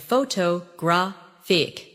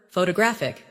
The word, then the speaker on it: photographic: For example, photograph, photographer, and photographic. The stress moves, and that changes the sound. Try saying them slowly after me. Photograph, photographer, photographic.